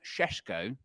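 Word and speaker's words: Šeško: manchester united and i've been working on my pronunciation of this is benjamin sheshko yeah he was uh watched by premier league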